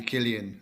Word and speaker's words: Cillian: actually Killian. I actually found that out recently, but I always forget. Yeah, It's a K.